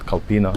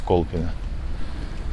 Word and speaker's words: Kolpino: It's not Kolpino, it's Kolpino.